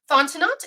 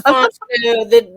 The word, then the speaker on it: Fontenot: We've got Tiffany Fontenot. Is that how I say your name, Tiffany? And yes. Unmute. It's Fontenot. The T at the end is silent. It's French.